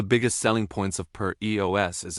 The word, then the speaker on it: /e/OS: EOS pronounced EOS is a fork of the Android open